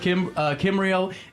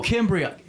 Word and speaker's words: Kimbria: You know, we're talking, and we have Katie, Meredith, Kimbrio, and Ren. Kimbrio? Did I say it right? Kimbrio. Cambria. Oh, Kimbria. Right?